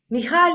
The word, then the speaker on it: Michal: Michal is the right pronunciation.